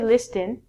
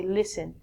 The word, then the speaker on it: listen: first word is listen we don't say listing you say listen listen is like hearing